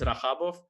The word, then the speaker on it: Radjabov: was saying like Radjabov because the J there, and even when they make ha ha ha in the chat, they make it not J. So yeah, it's written like it's written like this and pronounced like this. So I was in Spain. I was always Radjabov, and about the rest